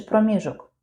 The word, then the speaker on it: проміжок: Де правильний наголосок? Проміжок чи проміжок? Проміжок з наголосом на другому складі.